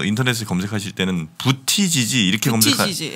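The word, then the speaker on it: Buttigieg: 저 인터넷에 검색하실 때는 부티지지 이렇게 검색하시 예, 부티지지로 쓰시면 아마 검색은 왜냐면 아이가 있으니까 네. 부티지지인데 빠르게 발음해서 뭐 부러져지 뭐 이렇게 얘기하는데 뭐 상관없어요.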